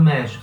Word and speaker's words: México: O nome do país, México. Esse X vai se pronunciar também com rota, México. Não vai ser México, vai ser México.